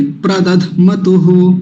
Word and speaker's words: प्रदध्मतुः: प्रदध्मतुः, प्रदध्मतुः। यहाँ थोड़ा सा झटका लगेगा, धक्का सा लगेगा, हल्का सा। कैसे? प्रदध्मतुः, प्रदध्मतुः, ऐसे करके प्रदध्मतुः, ऐसा।